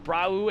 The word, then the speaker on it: Brau: Brau is pronounced like brow. Brow.